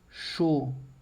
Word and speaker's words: chaud: Por exemplo, tem a palavra chaud, som de O, percebe? A U com som de O e o D que eu não pronuncio.